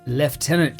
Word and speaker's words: Lieutenant: promoted from a first left tenant to a captain. And yes, Lieutenant, I know, but I prefer the British pronunciation.